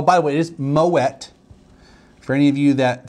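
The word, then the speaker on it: Moët: dots umlat means you don't pronounce it Moe I'm just making fun of people that said Moet where I worked once and then one day I found out they were the people that was pronouncing it right it's kind of like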